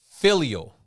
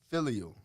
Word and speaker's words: filial: word of the day man let's get it filial filial okay f-i-l-i-a-l filial filial pronunciation man filial it's an adjective it's origin